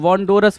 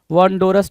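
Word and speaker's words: wondrous: आर ओ यू एस बोलते हो आर ओ यूएस ना कि आर ओ ठीक तो है भाई वंडो अच्छा वंडोरस बोलना भाई वंडोरस नहीं वंडरस होता है डब्ल्यू ओ एन डी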